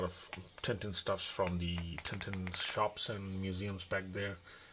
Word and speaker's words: Tintin: tinted stuff from the tintins shops and museums back there in brussels and he never says tintin he says tantan so yeah i guess in belgium language you don't say tintin so it starts off